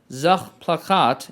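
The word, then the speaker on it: Sachplakat: the german advertising style zach plachat as it's pronounced in german which is object poster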